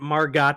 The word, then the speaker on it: Margot: Why isn't it Margot Kidder? That damn Margot? T is silent.